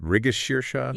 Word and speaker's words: Mrigashirsha: Is it Rigashirsha? You've got it. The stress is on that middle shir sound, and then a long sha at the end, migashir.